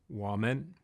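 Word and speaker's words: 我们: meaning we or us in Chinese, which is pronounced woman.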